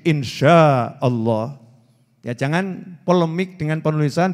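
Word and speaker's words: إن شاء الله: Nah, tulisannya INSHA tapi dia bacanya itu insya. Oh, keliru nih itu ya. Oh itu pakai shin, insya Allah.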